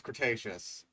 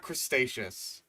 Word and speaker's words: Cretaceous: They were and he he can pronounce Cretaceous, not crustaceious.